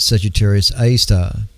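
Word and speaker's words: Sagittarius A*: The first observations of this bizarre object came 3 years later, called Sagittarius A, or pronounced Sagittarius A star.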